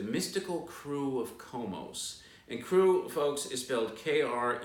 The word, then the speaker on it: Krewe: parades all together then there's all these marching crews okay which also have names and there's all